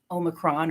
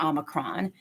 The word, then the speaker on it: omicron: single agreed upon pronunciation they say that according to the merriam-webster dictionary you can google this online um two uh pronunciations are acceptable that's omicron omicron see gosh i always trip over myself omicron or omicron both of those two are totally acceptable you're not surprised neither